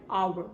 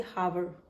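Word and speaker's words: hour: are we never say hover or we say are and are h o u r h is silent so we use the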